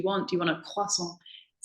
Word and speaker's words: croissant: how to pronounce it because growing up, it's always been croissant. It's a French word, and my family are French. We've always said it the French way.